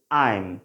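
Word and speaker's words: I'm: আইম। কি? আইম। উচ্চারণটা কী হবে? আইম, নট আম।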